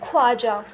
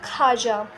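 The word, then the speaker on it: خواجہ: जैसे कि खाजा खुश खाब इसके अंदर वाव लिखा जरूर गया है लेकिन इसे पढ़ा नहीं जाएगा। लोग अक्सर इसको पढ़ते हैं ख्वाजा। लेकिन इसका असल प्रोनाउंसिएट होता है ख्वाजा।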